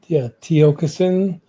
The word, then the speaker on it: Tiokasin: Yeah, Tiokasin, it's Tiokasin. So it sounds phonetically Tiokasin. Some people say Tiokasin, whatever they say, but it is Tiokasin at Gmail.